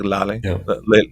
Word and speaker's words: Lehle: But it's a German company, and the German pronunciation is more like Lehle.